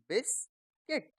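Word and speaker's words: biscuit: यह गार्ड ऐसे ही पी आई एस सी यू आई टी इसमें भी यू हमें नहीं बोलना तो ये क्या बन गया बिस्किट बिस्किट हिंदी में आप बिस्कुट बोलना चाहे तो बोल सकते हैं। पर जब हम इंग्लिश में बोलते हैं तो इसको हम क्या बोलते हैं? बिस्किट।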